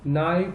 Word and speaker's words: knife: Knee, knife, not, and no. It's very easy. You can easily find out that they all have K silent as a silent letter. So here the K is silent.